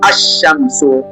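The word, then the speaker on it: الشمس: wa jua yaani shamsia herufi lam haitamkwi badala yake tunakaza herufi inayofuata kama katika neno ashamsu Jaribu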